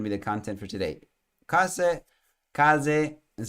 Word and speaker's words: case: Case is how you say it.